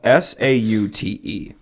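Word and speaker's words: sauté: this word is spelled s-a-u-t-e now what it looks like to me is saute I'm pretty sure though that saute has a oh uh and it might be like two e's but I'm gonna say that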